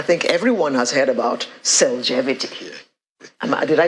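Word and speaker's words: Cellgevity: say supplement i think everyone has heard about selgevity did i pronounce it right yes yes tell us about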